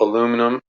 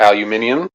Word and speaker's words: aluminium: And the pick guard is also shielded there with a little aluminum or aluminium, depending on the way you like to pronounce that word.